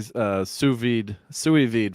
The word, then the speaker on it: sous vide: I'll try to say sous vide from now on.